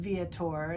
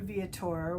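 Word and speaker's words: Viator: I book through and I pronounce it vator it's V Victor i a t o r and this one was a um tour through viatour was a D-Day beaches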